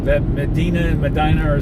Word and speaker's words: Medina: Now, Medina. You see that, Medina? Medina. There's another town just like that. Same exact name in Minnesota. But they don't. Medina. Not Medina. Medina. Spelled the same exact way.